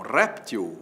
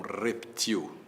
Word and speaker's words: réptil: O jacaré é um réptil ou é um reptil? Você vai dizer que é um réptil que é a forma mais usada. Pois é. Se ele for um réptil assento agudo, réptilxítonactem l. Mas saiba que o jacaré também pode ser um reptil. oxítona reptil sem acento, portanto reptil como barril, né?